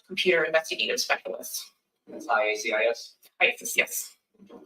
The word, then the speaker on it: IACIS: ISIS, yes.